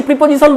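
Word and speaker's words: preposition: সে ঠিকই বলছে, সে যে রিজিয়ন থেকে এসছে প্রিপোজিশন বলে, তার শুনে অভ্যাস হয়ে গেছে, ইংলিশ ইন্ডিয়ান ইংলিশ অনুযায়ী সে বলছে।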